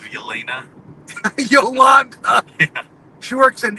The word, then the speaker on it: Yelena: He says Jolanda instead of Yelena.